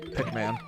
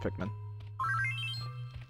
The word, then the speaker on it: Pikmin: yep as you said pick man I don't know why because you said pick man when you were reading it it's pronounced Pikmin Pikmin or well it's about